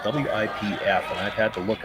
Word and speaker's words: Wipf: last name is spelled W-I-P-F, and I've had to look up pronunciations. I believe it's Wipf, but it sounds awfully close to Whiff, and I hate calling a skip Whiff.